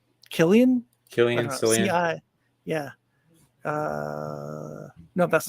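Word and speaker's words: Cillian: murphy how do you ever say his name killian killian yeah uh no that's not true he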